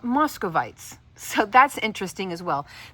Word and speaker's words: Muscovite: So, I went to Professor Google and it is pronounced muscovite. I even listened to an audio of it.